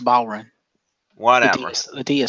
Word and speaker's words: bodhrán: a reverse chinlock mmm it's pronounced bowren what amorous idea silent